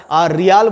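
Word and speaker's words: rial: तो ओमानी रियाल है ना रियाल बोलते हैं आर आई ए L spelling में थोड़ा कंफ्यूज नहीं करना है ठीक है तो उसका भी रियाल ही जो है प्रोनंसिएशन है ठीक है बात समझ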